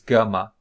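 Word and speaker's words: γάμμα: b b b b the third consonant is GMA pronounced as Latin G okay so g go so let's just be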